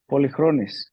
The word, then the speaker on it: Polychronis: Well, while he gets that situated, Connie, how would you pronounce his full name? Polychronis? Polychronis.